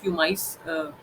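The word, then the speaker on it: pumice: तो जैसे प्यूमिक stone आपने देखा होगा, प्यूमिक, सॉरी, प्यूमिक इसका नाम होता है, प्यूमाइस कहीं पे इसको प्यूमाइस प्रोनाउंसिएशन करते हैं, मेनली इसको प्यूमिक बोला जाता है।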